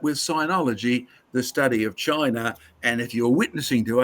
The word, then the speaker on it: Qin: Now, in case you've forgotten, from the state of Chin, pronounced Chin, from which we get Chinese.